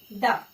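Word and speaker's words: the: ए एन और द, ठीक है। द को कभी कभी दी पढ़ा जाता है और कब इसे द पढ़ा जाता है वो भी क्लियर करेंगे, ठीक है।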